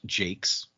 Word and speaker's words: Jacques: red wall series by Brian Jacques or pronounced Jake's it's where I got